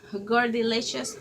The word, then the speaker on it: Gordilicious: Um I am having some questions about my name, my username here on YouTube, and it's pronounced Gordilicious.